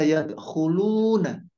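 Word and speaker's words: يدخلون: Kayak tadi yang surat An-Nasr, wa ra'aitan nasa, bacanya tulisannya yadkhuluna. Kan sebenarnya sama adaannya kalau dibaca hafuskan. Kalau dibaca yadkhulun, kalau diwakafkan kan, kalau dilanjutkan ya yadkhuluna, yadkhulun wa ra'aitan nasa.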